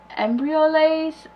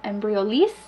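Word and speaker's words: Embryolisse: my embryo light and I always say it wrong it's um embryo lays i'm embryo lease i think it's every release anyways there are lotions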